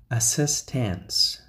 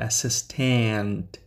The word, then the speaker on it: assistance: director of the University assistance assistance now remember it's not assistant there isn't a t letter okay this is a